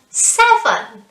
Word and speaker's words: seven: comes after six excellent seven seven so don't forget it's the first syllable which is stressed seven good job eight